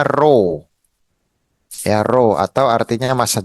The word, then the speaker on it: rho: Nah, yang ini itu bacanya row ya, row atau artinya massa jenis.